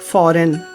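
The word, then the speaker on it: foreign: में GN आने पर जी का उच्चारण नहीं होता जैसे साइन फॉरेन सॉवरेन ऐसे शब्दों में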